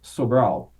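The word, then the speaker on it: Sobral: and there's a famous city in Brazil called soal you spell that s o b r a l which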